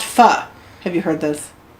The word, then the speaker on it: pho: So, for instance, I have recently discovered that I'm going to mispronounce it because it looks like the word pho, but everybody says it's pronounced pho.